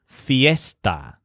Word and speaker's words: fiesta: word for party is Fiesta which sounds a little bit like Easter in distress esta Fiesta on the